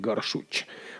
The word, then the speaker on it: Gorsuch: No tanto como Gorsuch. Vamos, el apellido parece alemán. Los estadounidenses no pronuncian la che como J, que es como la pronuncian los alemanes, así que sería Neil Gorsuch.